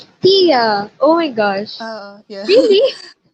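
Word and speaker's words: Tea: Actually, I listened to the audiobook, and in the audiobook, it's pronounced as Tia. Tia!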